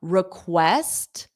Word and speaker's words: request: did you did you now request the syllable stress is on West so this re e is unstressed R request request and an extension so